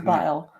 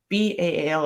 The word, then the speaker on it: Baal: It's Baal. Yeah. Yeah. B-A-A-L is Baal. I can't pronounce my own name, so yeah.